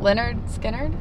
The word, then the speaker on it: Lynyrd Skynyrd: Z tego co wiem, to wczoraj na przykład grał tutaj zespół Leonard Skinner. Okej. How do you pronounce it? Leonard Skinner.